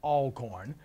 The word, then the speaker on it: Alcorn: That's Alcorn. You pronounced it right.